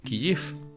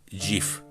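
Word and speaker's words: Kyiv: en mi Twitter, que la pronunciación en ucraniano es realmente Kiyif. Y bueno, le escribí y me dijo que es algo así como decir giif.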